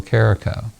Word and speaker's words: Carico: Carico has one R, and it rhymes with Jericho if you have trouble pronouncing it.